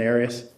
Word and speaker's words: Arias: there is there is have you ever heard pronounced any other way other than Aries no okay um how did you come to